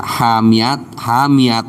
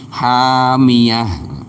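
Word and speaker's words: حَامِيَةٌ: Jadi jangan dibaca hamiat jangan, tapi hamiyah.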